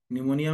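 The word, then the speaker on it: pneumonia: social awareness ठीक मोनिया निमोनिया में piece silent होता है ठीक है पूरा लिख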